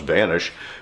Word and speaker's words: VNSH: for the vanish holster spelled without vowels just V nsh pronounced vanish and is that because